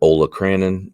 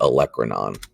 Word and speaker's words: olecranon: called the olecranon fossa you'll call it olacranon and i will correct you hundreds and hundreds of times but it is the olecranon a tubercle is a